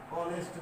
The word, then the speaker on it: honest: যেমন he is an honest man, তিনি একজন সৎ মানুষ। Mister Rahman is an honorable person, mister Rahman একজন সম্মানিত ব্যক্তি। এখানে এইচ এর উচ্চারণ দুইটাই কিন্তু অ এর মতো হয়, যার কারণে তার পূর্বে কি বসছে?